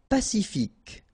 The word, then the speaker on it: pacifique: Pacifique. Q-U-E, K, pacifique.